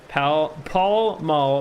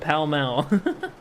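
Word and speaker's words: Pall Mall: hard to tell why it's pal Paul ma but pal Mal that's another British thing I blame the British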